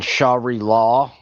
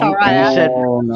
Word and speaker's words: Sharia: on were the trying to wrong make fun- syllable. You were trying to make fun of her for saying Shari law wrong, Sharia. and you said manipulate. Like what the fuck? No, wait. I said Sharia.